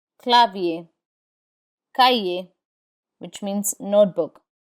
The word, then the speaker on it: cahier: We do not pronounce the R in IER. Instead, it has the A sound. Papier, papier, which means paper. Clavier, which means keyboard. Clavier, clavier. Cahier, which means notebook. Cahier.